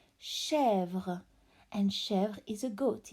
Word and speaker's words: chèvre: This is chèvre with the silent final E. As you can see, there is no dot, so we don't pronounce it. Chèvre.